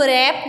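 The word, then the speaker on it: wrapped: बेटा इसको रैप्ड नहीं पढ़ना, इसमें जो W है ये साइलेंट है.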